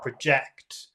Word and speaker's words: project: verb if you put if you put the emphasis on the second syllable that would be project and that's like you know a projector like a movie showing on a screen but yes this is a this is a noun and so the emphasis is on the first syllable which is Project project